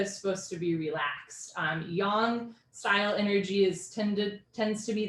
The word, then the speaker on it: yang: So it turns out yang is actually pronounced yang.